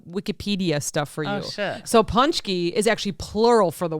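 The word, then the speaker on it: pączki: brand so punchy yeah so the american version is punchy yeah the polish version is punchy and actually i have some i have some wikipedia stuff for you so punchy is actually plural for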